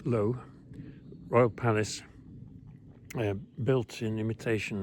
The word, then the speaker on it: Loo: Royal Palace at low a low isn't clearing in a forest but it's spelled l o o so it's low Royal Palace built in